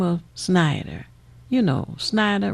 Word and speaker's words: Snyder: of snyder you know schneider rhymes with spider snyder gets elected governor